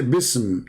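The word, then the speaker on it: بسم: Even the Muslims in their dictionary, even in their scholars, they say the word, the letter alif is taken off because it's heavy to pronounce, harder to recite.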